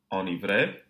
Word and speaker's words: enivré: Enivré, enneigé, ennui. So we're still pronouncing the N in these cases, but the vowel that precedes it is nasalized.